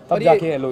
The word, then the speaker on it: Loev: The main thing is, I think you spell it anyhow, it's love at the end of the day.